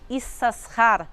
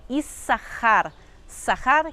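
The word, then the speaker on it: Issacar: Leia que se chama is sasar ou como a gente pronuncia o nome dele hoje em dia mas no hebraico bíblico a pronúncia correta é isar sahar quer dizer pagamento ou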